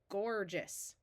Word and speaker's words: gorgeous: So here we have our root gorge and we add the suffix OUS, which is pronounced us, and all together we get gorgeous.